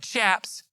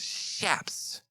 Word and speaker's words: chaps: fancy studded shaps shaps do you know that's how you pronounce it it ain't chaps it's shaps no don't look at